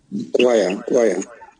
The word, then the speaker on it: choir: Choir. Yeah, choir. Chuar. CH. Okay, we used to pronounce CH cha, but in this word, choir.